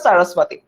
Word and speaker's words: সরস্বতী: যেমন আমি যদি হচ্ছে কি যে আচ্ছা, একজন বললো আচ্ছা, বাংলা উচ্চারণ করতে গেলে সরস্বতী হয়, আবার আমার কেন জানি উচ্চারণটা বাংলাটা ইউজুয়ালি আসে না মুখ দিয়ে, ইংলিশটা বের হয়ে যায়, ওটার উচ্চারণটা সরস্বতী।